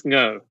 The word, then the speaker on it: Ngo: did you pronounce it it is pronounced can go really because I was